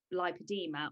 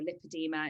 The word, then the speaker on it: lipoedema: I didn't know that I had a condition called lipoedema, or lipedema, it's pronounced both ways, which is basically the